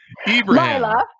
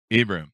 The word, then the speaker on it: Ibrahim: We have with us Laila Ibrahim. Laila. Did I get that right? Laila. Just ignore the A. Ibrahim. Did I get that all right? Laila Ibrahim. Laila. But I've heard it all. Ibrahim. Ibrahim.